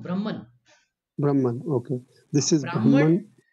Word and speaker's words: Brahman: it is not Brahman it is it is pronounced Brahman Brahman okay this is Brahman Brahman is actually